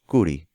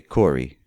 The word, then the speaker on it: Kuri: So if you were a Christian in Lebanon, you were given the last name Kuri, which is pronounced Kuri, but we just say Corey here in the United States.